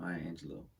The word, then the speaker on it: Maya Angelou: In 1961, Angelou Angelo performed in John I have to keep saying myangelo in my head to say it right.